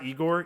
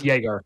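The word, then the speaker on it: Egor: number nine you said it's not it's not eigor eigor demon what is his name it's Jager Jager Jager demon so kaspar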